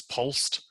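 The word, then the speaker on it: POLST: on the screen the pol st you're gonna hear that commonly pronounced as pulsed stands like Jill said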